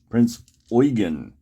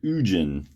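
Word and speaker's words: Prinz Eugen: pronunciation i'm getting for this ship is the prince oygan even though it's spelled like ujjin okay so let's get into this we have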